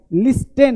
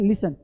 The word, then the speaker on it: listen: टन नहीं है, often, often मतलब अक्सर, ऑफ्टेन नहीं बोलना, ऑफन, लिस्टेन नहीं, लिशन, LIS होता है, देखो ऑफ्टेन ऐसे बोलते हैं, LISTEN, लिस्टेन नहीं है, लिशन, क्या बोलते हैं, लिसन, टी रहता है साइलेंट, है ना, जहां भी EN लगा होता है उसके पहले टी क्या होता है, साइलेंट, जैसे ऑफन, लिशन, लिसन